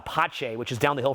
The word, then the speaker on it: Pace: But you have restaurants where, like some like, I think it's spelled Pace, P-A-C-E, but Pache, which is down the hill from here, that is a very unique restaurant.